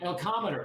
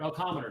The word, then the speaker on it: Elcometer: going okay so the next question uh while Elometer elcometer that's it the elometer is that spelled what's it elometer like elome Yeah, it's spelled it's on my website.